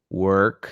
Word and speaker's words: work: Work, same sound as in the word bird.